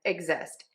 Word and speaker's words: exist: We are going to pronounce this as a GZ in this case because the X is between two vowels.